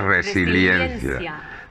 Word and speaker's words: resiliencia: Yo le quito la I porque lo pronuncio todo seguido, pero vamos, pronunciándolo bien es resiliencia.